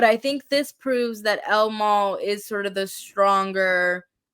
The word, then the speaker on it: El Mal: so best original song El Mal for Amelia Perez or El Maul I should say I being in Texas